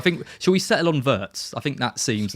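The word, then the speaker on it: Wirtz: Yeah, we need to talk about the pronunciation of words. Verts v. Well, I listen I listen to the pronunciation and he does say vitz, but when I was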